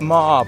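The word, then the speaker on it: Meagher: actually the thomas francis ma bridge it's just spelt in a funny way with a silent g in it and that bridge spans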